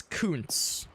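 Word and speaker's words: Kuntz: Now, I have to be careful about how I pronounce this guy's last name because it's not pronounced how you think it is.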